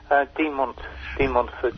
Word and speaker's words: De Montfort: So, this De Montfort University, am I pronouncing that correctly? De Montfort, yeah.